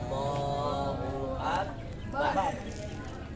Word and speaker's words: Allahu Akbar: Ayo bacanya Allahu Akbar yang benar.